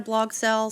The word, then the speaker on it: Barthel: Give it up for the one, the only, Sarah Blogthell. Sarah Blogthell, you said it right. I believe that is the correct pronunciation. It is. It's Sarah Blogthell.